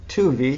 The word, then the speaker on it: Tuve: David Holdhuson is Director of Choral Activities, and the Douglas and Susan Tuve, am I pronouncing that? Tuvey. Tuvey, thank you.